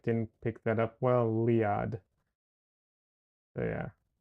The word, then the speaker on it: Leeahd: My first name is pronounced Liad, in case my mic didn't pick that up well, Liad.